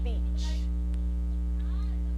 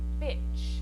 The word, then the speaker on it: beach: Beach. It has the long vowel sound in this word. E. Beach. If you mispronounce this long vowel sound and use the short I sound, you'll say bitch.